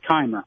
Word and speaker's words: Chimer: It's not the first time that's happened in my life, but it's spelled Chimer, but it's pronounced with a K, Keimer.